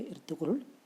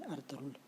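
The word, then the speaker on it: Ertuğrul: एक दिन इर्तुगरुल गाजी, एक्चुअली में क्या है, ये टर्किश वर्ड है, और टर्की में लिखते हैं जहाँ पे इर्तुगरुल, इसको प्रोनाउंस करते हैं अर्तुगरुल। क्यों? क्योंकि टर्किश वर्ड में जी प्रोनाउंस नहीं होता है, इसलिए इसको बोलते हैं अर्तुगरुल, लिखते हैं अर्तुगरुल।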